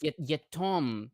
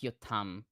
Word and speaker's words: Yetom: It's one no, it's Yetom. That's actually not Yotam.